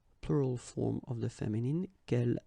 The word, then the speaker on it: quel: So the first thing, the good news is that if you listen carefully, quel, quel, quel, quel, okay, so phonetically you get only one form. Of course, when you get this S, well, if you've got a vowel after, then you will have to make this liaison. But then clearly the basic form like that, phonetically it's the same, okay?